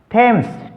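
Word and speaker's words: Thames: से शुरू होता है, तो टी एच का उच्चारण टे करेंगे, न हमने वहाँ पर दे करना न थे करना।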